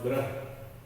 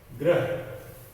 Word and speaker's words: ग्रह: साम्राज्य पढ़ते समय, और ग्रह, ये तो बहुत सरल है, ग के बाद में र का उच्चारण होता है, फिर ग्रह, मंगल ग्रह।